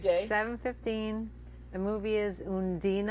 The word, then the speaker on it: Undine: The movie is Undine. I'm going to pronounce it like the Germans do Oh. because it sounds so much more romantic than Undine. Yes. Undine.